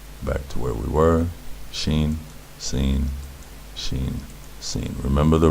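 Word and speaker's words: שׁ: Numerical equivalent of 300, and the sound is sh, sh, like someone telling you to be quiet. Someone shushing you.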